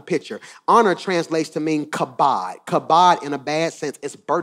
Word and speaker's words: kabod: So because of this, he walked with the kabod. You spell it, Pastor Mike.